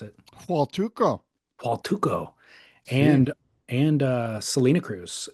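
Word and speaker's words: Huatulco: How do you pronounce it? Hualtuco.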